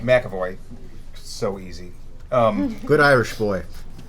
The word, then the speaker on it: McAvoy: Well, Patrick, so help me with his last name because I cannot pronounce it. McAvoy. McAvoy.